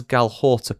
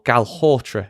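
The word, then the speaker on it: Galhotra: us mitigate supply disruptions, as Galhortra put it. Or Galhortra, as it turns out. Said his name wrong twice there, but I'm keeping it in.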